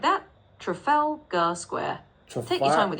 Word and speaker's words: Trafalgar: It's pronounced as square. So you can just say it slowly like that. Trafalgar square.